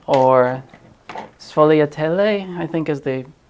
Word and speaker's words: sfogliatelle: There are a few different ways to pronounce it. Sfiadelle or Sfogliatelle, I think is the not Italian-American way to pronounce it.